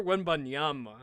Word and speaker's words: Wembanyama: It's Victor Wembanyama, okay?